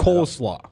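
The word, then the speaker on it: coleslaw: what are you saying coal SLA cold like coal oh coal like burning coal SLA yeah Co coal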